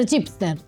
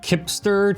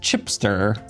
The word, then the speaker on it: Cipster: They are Cipster. That's funny. So in Italian, CI is pronounced ch, like CH for us. So it looks like Kipster to me, but it's pronounced Cipster.